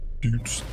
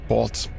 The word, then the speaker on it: boots: They look they read boots and they pronounce it as bots and that pisses me the off.